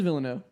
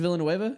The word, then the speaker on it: Villeneuve: It is Villeneuve. You think it's Villanueva? It's not that.